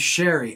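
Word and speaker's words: Sheary: the next year like by the way it's it's Sherry and we're like huh he's like yeah my name's Sherry and like we thought he was sort of ribbing us and then like turns out it actually is Connor Sherry but it never caught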